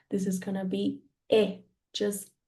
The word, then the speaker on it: he: In Spanish, the h is silent. Okay? So this is not he or he. This is going to be e, just e.